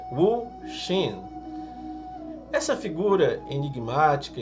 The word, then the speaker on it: Wu Xin: Hoje nós vamos falar sobre o Hu Hsin, ou uma pronúncia mais correta seria Wu Xin.